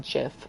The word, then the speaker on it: GIF: gifs that they put out and yes it's pronounced jiff i will fight um there is one of